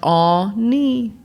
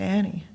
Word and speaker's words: Anni: it's pronounced Ani.